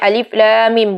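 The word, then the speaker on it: الم: al-baqarah dengan lafadz alif.lam.mim Hai diingat ya teman-teman bacanya alif.lam.mim bukan alamak saya tapi e-dif 11 Lam Mim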